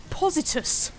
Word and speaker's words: Positus: It is Positus. I'm positive you will thoroughly enjoy it here. Also, your name rhymes with bus.